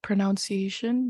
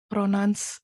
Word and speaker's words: pronunciation: the examples is like saying the word pronunciation because like I have some friends that say like pronance or like pronounce Which is incorrect and I just I